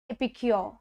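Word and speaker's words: epicure: इसका प्रोनाउंसिएशन क्या होगा, प्रोनाउंसिएशन है एपिक्योर, एपिक्योर, एपिक्योर। तो ए बोला जाता है इसमें, है ना।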